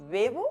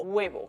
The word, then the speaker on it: huevo: Claro, si veíamos esta palabra, ¿cómo la pronunciamos? ¿Bebo o huevo? Pues para dejar clarísimo cuándo había que pronunciarla como vocal, pusieron delante una H.